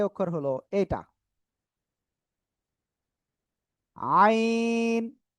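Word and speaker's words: عين: আইন আইন গলাটা চেপে আমরা উচ্চারণ করব এটা চার আলিফটা নিয়ে উচ্চারণ করব আইন ওকে তারপরে আমরা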